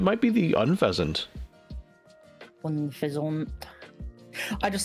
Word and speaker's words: Unfezant: be the UN feasant Unfezant I just like saying it funny I know that it's pronounced on peasant I mean they are